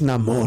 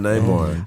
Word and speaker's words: Namor: It's Namor. Yeah, now. Namor. It ain't Namor no more. The nigga's Namor. It's not Neymar.